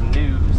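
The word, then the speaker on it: gnus: there's some wildebeest now wildebeests are also known as news that's spelled g and you you know and when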